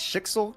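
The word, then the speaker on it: Schicksal: From it's Shixel, correct? Is that how Yeah. you pronounce it?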